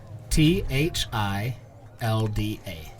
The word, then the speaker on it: Thilda: Um, spell that for us. T H I L D A.